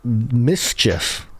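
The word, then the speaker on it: MSCHF: to clarify yeah uh mischief spelled without the any vowels yeah super hip uh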